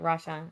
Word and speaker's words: RaShawn: Well, thank you so much, RaShawn. Right? I Yeah. said it Right correctly. I on. pronounced it RaShawn.